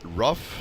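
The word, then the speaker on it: RUF: So it is pronounced Rough, since it's a family name, not R-U-F as some people think.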